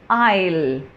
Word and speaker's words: I'll: How do I pronounce this? I'll. I'll. Okay? Not I will. Even though it is a short